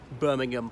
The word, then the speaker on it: Birmingham: The other thing is, usually these HAM endings in British place names, the H is silent, as in Birmingham, Fulham, Balham, and there's so many more. But Petersham, we possibly bastardized it to Petersham rather than Petersham.